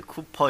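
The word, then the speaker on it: Cowper: 윌리엄 카우퍼라는 분이 작사했어요. 네, 근데 쿠퍼 이렇게 발음했습니다.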